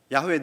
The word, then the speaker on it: 야훼: 나중에 학자들이 이 발음을 다시 되찾는 연구를 하여서 야훼라고 부르게 되었다고 합니다.